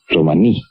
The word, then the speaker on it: romaní: oo bien el romaní romaní con el acento en la i es una lengua que